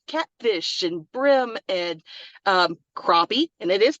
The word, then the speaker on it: crappie: you talk about catfish and brim and um crappie and it is pronounced crappie here uh and other game fish that you